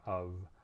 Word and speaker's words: of: but we also have the word of which is spelled with an f but it's definitely a v sound and the the other